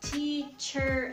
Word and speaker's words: teacher: So again, if you're trying to sound like an American person, you would say teacher.